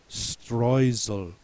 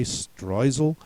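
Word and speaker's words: Streusel: the German pronunciation for strucel and they actually pronounce it strel so if you ask are there any alternate pronunciations he should give you that one should say stal and then you should say bingo now I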